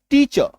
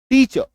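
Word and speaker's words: teacher: तो जब हम लोग टीचर बोलते हैं तो यहाँ पे ना र का हल्का सा उच्चारण करना है, टीचर, टीचर।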